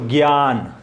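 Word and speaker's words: ज्ञान: ګیان. ګیان یعنی پوهه. ګیان. څنګه تلفظ کېږي؟ ګیا. د څه شي نه جوړ دی؟ د ګاپ آواز پکې نشته، یوازې کا ساکن او یا ورسره.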